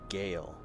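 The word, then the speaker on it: Gaol: is the Cork City Gale what we pronounce as jail or prison and it's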